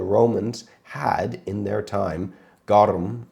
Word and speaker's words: garum: had in their time, garum, I think is how you pronounce it.